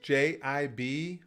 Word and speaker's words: Jibril: Jabril is Jibril.